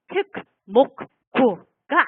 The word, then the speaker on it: 특목고: 네, 특목고가 아니에요, 여러분. 이 세 개의 단어를 한꺼번에 발음을 하면 이렇게 발음해야 해요. 네. 자, 발음 나는 소리대로 하면 이걸 발음 나는 순서대로 하면 특목고. 네. 이렇게 발음이 돼요.